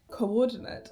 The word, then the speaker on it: coordinate: An example of some other quadrisyllabic words would be metamorphose and coordinate and lolliable. Metamorphose. The stress is on the 3rd syllable. Coordinate. The stress is on the 2nd syllable.